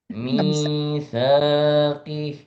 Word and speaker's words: ميثاقه: الذين ينقضون عهد الله من بعد ميثاقه Mitsaqih. الذين ينقضون عهد الله من بعد ميثاقه. Kenapa nggak dipanjangkan di mi 2 harokat? Mitsaqih.